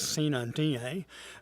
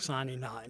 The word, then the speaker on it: sine die: Taylor, yesterday, Wednesday, March 29th, was Sine Die, or I guess the proper Latin pronunciation was or is Sine Die, but with the good old-fashioned Southern Georgia pronunciation, we call it Sine Die down here.